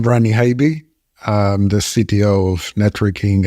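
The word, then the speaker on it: Ranny Haiby: In addition to myself, I'm happy to be joined by Rainey Hobby, and if I got it wrong, Habe is how I pronounce. Rainey, pronounce it for us so we get it right. Hi, I'm Rani Habe.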